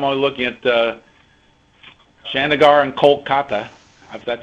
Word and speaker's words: Kolkata: looking at Chandigarh and Kolkata, if that's how you pronounce it. I'm used to Calcutta, but it's Kolkata.